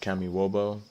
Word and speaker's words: Kamyshovo: It's pronounced Kamyshovo.